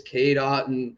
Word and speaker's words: Cade Otton: Like it's Cade Otton, and it's perfect. So it's awesome. So thank you, Matt, for breaking down the pronunciation.